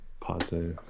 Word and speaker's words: Pate: It's Pate.